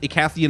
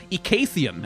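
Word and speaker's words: Icathian: just hanging out with ikathian mages who have survived or ikaythian as we have learned it's supposed to be pronounced in in the interactions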